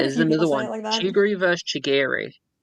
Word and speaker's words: Chigiri: His name is Chigiri, but I'm just used to saying Chigory now.